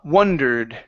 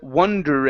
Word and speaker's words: wondered: for you is W wondered okay so this is an uh sound and then instead of wondered Ed ending he wondered how many